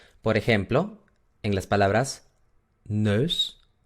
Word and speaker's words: neus: En holandés se pronuncia E, E, E. Por ejemplo, en las palabras neus o leuk. Neus, leuk.